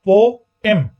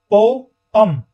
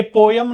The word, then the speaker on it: poem: या तो पोएम होता है, पोएम, या पोअम, पोएम या पोअम। ये पोयम नहीं होता, यम नहीं होता, यम यम ये वाला नहीं होता, ठीक है। ये या तो पोअम या पोएम, ये दोनों प्रोनाउंसिएशन इसकी ठीक है। यम वाली जो प्रोनाउंसिएशन है ये गलत है, ठीक है। तो पोअम या पोएम आप जो भी बोलना चाहें आप बोल सकते हैं।